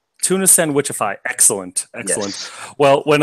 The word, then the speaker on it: Tunafishsandwichify: Tunafishsandwichify. Tunafishsandwichify.